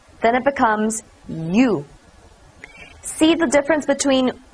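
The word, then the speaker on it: ㅠ: I'm going to use one more to U, then it becomes you.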